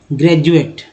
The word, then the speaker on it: graduate: अब जैसे देखिए, मैं कहूँगा होता है, अब ये लिखते हैं GRADUATE, जी हाँ तो क्या बोलते हैं इसे? ग्रेजुएट, है ना। ग्रेजुएट नहीं बोलते, ग्रेजुएट बोलते, यानी कि डी का उच्चारण तो ज के रूप में हो रहा है।